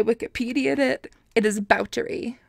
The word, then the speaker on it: Báthory: did it it is vouchery because she is Hungarian was Hungarian maybe she